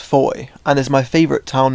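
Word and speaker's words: Fowey: No, the toilet is This town is spelt fou but pronounced foy and is my favorite town in Cornwall.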